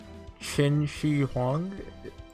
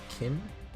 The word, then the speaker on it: Qin Shi Huang: I don't care about Qin Shi Huang. I don't think I'm saying that right, but I'm close, maybe? I think it's pronounced Chin, not Kin. I don't actually know.